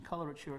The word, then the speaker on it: coloratura: but i'm sure you'll tell me the right pronunciation coloratura soprano yes okay correct yes would you tell